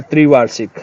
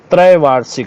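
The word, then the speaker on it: त्रैवार्षिक: कौन सा प्रोग्राम है त्रिवा शिक अरे यार कितना गलत बोलोगे आप लोग त्रिवा शिक नहीं त्रय वार्षिक होता है त्रय वार्षिक शुद्ध शब्द है पहला वाला गलत है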